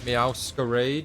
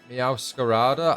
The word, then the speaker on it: Meowscarada: On Sunday, depending on how much time we have, we will do the Meowscarade, is it? Meowscarade? Is that the name of the Pokemon? I always pronounce it wrong.